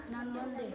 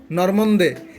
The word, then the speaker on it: নর্মদে: তারপর নর্মদে। নর্মন্দে। এইখানে কি দন্ত নয়তো আছে? আছে? এইখানে কি দন্ত নয়তো আছে? তো তুমি নর্মন্দে বলছো কেন?